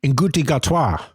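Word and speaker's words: Ncuti Gatwa: Nguti Gatwa.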